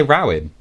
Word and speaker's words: Rowan: Do you not say Rowan? No, how does it spelled? Like rowing. It's exactly the same as rowing.